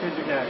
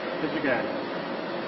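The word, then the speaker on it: Pizzigati: That's Pizzigaty. You have to spell it. P is in Peter, I-Z-Z-I-G-A-T-I. Pizzigaty.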